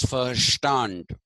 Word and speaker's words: verstehen: n d is pronounced V is pronounced fa in German so it is and S is pronounced sha so it is first stand okay did you understand